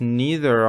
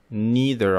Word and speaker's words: neither: When we are referring to two things or people, we use neither of rather than none of. Neither of или neither of.